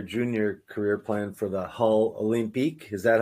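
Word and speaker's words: Hull Olympiques: quick your your Junior career plan for the hull olympique is that how you say it that is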